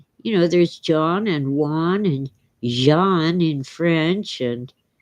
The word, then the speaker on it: Juan: Well, my high school Spanish teacher who grew up in Mexico pronounced the Jota. She'd say Juan. And yeah, most Americans just make it W. But I learned at age 12 to pronounce it Juan.